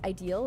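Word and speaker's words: Yi Sang: I actually his name is pronounced as ideal in Korean.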